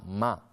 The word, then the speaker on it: MAH: Se llama MA, M-A-H, y quiere decir madre, se pronuncia exactamente igual que como nos expresábamos muchos cuando éramos más pequeños.